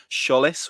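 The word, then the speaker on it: Tzolis: josh sergeant and and christoph schullis which is apparently the official club pronunciation although i think that's still tbc um so we'll wait for the man himself to confirm it but i'll go with sholis for now um is there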